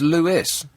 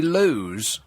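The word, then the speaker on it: Lewes: And that's pronounced Lewis. Yeah. Lewis. Shouldn't that be Lou? Yeah. Well, a lot of people think so. Yeah. But it's Lewis.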